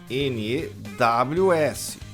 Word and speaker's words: news: N-E-W-S. Pronúncia news.